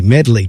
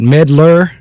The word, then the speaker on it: Medley: and like i said my last name it really is very easy medley two syllables but i get meddler i get med lack i get melody i i mean it's